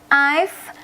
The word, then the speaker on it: I've: Ini bacanya I've.